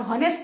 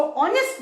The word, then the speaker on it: honest: इफ the teacher इसको ऑनेस्ट बोल रही है, स्पेलिंग भले HONEST है, एच साइलेंट है, ओ का साउंड आ रहा है, तो हम इसके आगे क्या लगाएंगे?